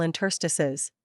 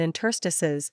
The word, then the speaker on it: interstices: true in the plural interstices which is used more often than the singular form note also that in interstices the final e is usually pronounced long so that it rhymes